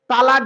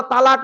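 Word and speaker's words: طلاق: হ্যাঁ, এই শব্দটা তালাক নয়, শব্দটা কি? শব্দটা হলো তলাক। কি বললাম? তলাক। ওর আরবি উচ্চারণ হলো তোয়েল আমালিফ কফ, তলাক। বাংলা উচ্চারণ হলো তয়ে বয়ে লয়াকার ক।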